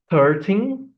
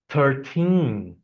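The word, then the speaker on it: thirteen: difference of the first, the wrong pronunciation with the stress in the beginning, and after the correct pronunciation with the stress at the end of the word, of the number. 13, 13.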